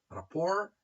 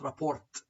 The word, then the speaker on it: rapport: Rapport, it is not rapport. No, it is rapport.